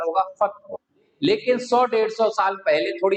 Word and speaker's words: फतेहपुर: होती है कि फतेहपुर सीकरी का जो बसावट है, जो उसका अस्तित्व बहुत पुराना है।